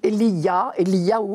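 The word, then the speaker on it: אליהו: Il faut retenir son nom surtout, Eliyahu en hébreu même, qui signifie « mon Dieu ».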